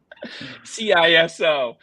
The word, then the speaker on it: CISO: I want to make sure you know there's two ways to pronounce that same word. Um to make sure that only only one way, only one right way. CISO.